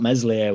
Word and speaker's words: Meslier: at the moment and they spelled meslier with an S which is a bit weird I thought it was silent s but Free Falling far